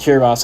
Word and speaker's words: Kiribati: It's pronounced Kiribati.